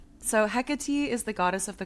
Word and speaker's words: Hecate: And then she the first chapter is about um Hekate Hecate um and Hec she has a pronunciation in it and it is like Hecati.